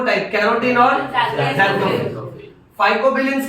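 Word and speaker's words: xanthophyll: और प्रोनाउंसिएशन भी अलग है, इसको एक्सएंथो मत बोलना, ज़ैंथो। कितना मस्त ग्रामर है, ज़ैंथोफिल।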